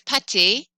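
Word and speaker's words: pâté: means that it's plural whereas patty with an e accent pate is spreadable meat not the same as pastas so imagine going to the restaurant and you're trying to order pot and you accidentally get pati not the same thing pate is actually where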